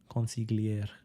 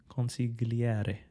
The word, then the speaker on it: consigliere: Advisor, consigliere. So you have to pronounce it in an Italian way. Consigliere.